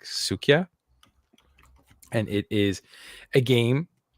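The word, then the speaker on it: Suika: it right so I'm gonna spell it first and it's s UI Ka a so it's like sukia and it is a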